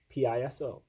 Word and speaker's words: Piso: the Calpurnius Piso family, P-I-S-O, I believe that's pronounced Piso, of ancient Rome.